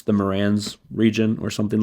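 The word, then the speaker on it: Marans: We have possible cuckoo Morans, French black copper Morans. I've actually learned that you always pronounce the S at the end of Morans because it's a region in France. It's the Morans region or something like that.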